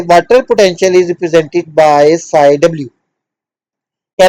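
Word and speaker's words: psi: हम एक Greek letter साई इसको हमने साय ड करना पी साइलेंट पीएसआई ठीक है इट इज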